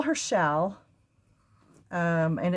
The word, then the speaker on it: Challe: I just call her shell um and it's spelled s it's spelled c h a l l e but it's pronounced like shall like shall we dance shall we go to